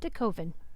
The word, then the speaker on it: DeKoven: and we ask them, how do you pronounce the name of your street? And so it was the Chick-fil-A worker who did in fact confirm it is DeKoven.